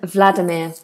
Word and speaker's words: Vladimir: would cover it today how do the Brits pronounce Russian names like Ivan and Vladimir there you go Ivan Ivan and Vladimir ok